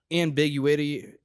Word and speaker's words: ambiguity: There's like ambiguity. Is that a word? Ambiguity. Sorry. You just emphasis on the wrong syllable.